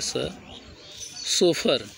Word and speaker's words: chauffeur: अगला शब्द है CH से शुरू है लेकिन पढ़ेंगे सोफर, CHAU, कठिन है, CHAUFFEUR।